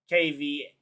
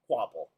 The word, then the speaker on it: Kvapil: Also, I'm not sure if that was voice to text, but it is spelled with a K. Kvapil. Kvapil. Definitely not how it sounds.